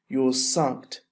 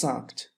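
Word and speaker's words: sacked: ونقول عبارة أخرى كذلك you're sucked أنت مطرود أنت مطرودة أو أنتم مطرودون you're sucked. عندما يكون لدينا فعل ينتهي الصوت ك فإننا عندما نضيف إيدي فإنها تنطق ت sucked لا نقول sucked.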